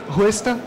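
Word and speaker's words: hwesta: do quen por fim hesta que significa brisa que nada mais é do que um hw e novamente você pronuncia é o w esse som é muito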